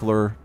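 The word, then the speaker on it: Lrrr: lur here I think lur in futur raama is spelled lrr r i don't think there's a u but for pronunciation sake lur l r r makes sense yeah move that spine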